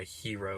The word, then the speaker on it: gyro: greektown gyro flavored and I know there's several other pronounced lee ations of this and that's probably the wrong one but that's the one I've seen the most common with so I'm calling it a gyro not a hero or whatever it's called